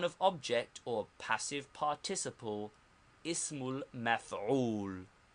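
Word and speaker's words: اسم المفعول: Second, the noun of object or passive participle, pronounced ismul maf'ul. Ismul maf'ul. The noun of object or passive participle, ismul maf'ul.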